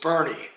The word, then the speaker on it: Boerne: as davis's niche and i asked the woman at the desk how to pronounce the name of this town and she says bernie so my google maps